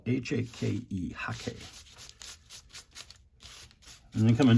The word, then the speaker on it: hake: So it's spelled H-A-K-E, Hake.